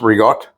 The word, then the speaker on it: ricotta: I got some ricotta, or for those of you that want to pronounce it ricotta, it's ricotta. It's whole milk.